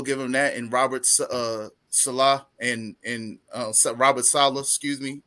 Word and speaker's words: Saleh: I keep can't getting pronounce his last Salah. It's Salah.